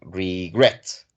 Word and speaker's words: regret: Porque el acento va en la segunda sílaba, regret.